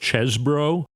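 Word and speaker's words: Chesebro: talking about I think is actually pronounced chesbro but I like to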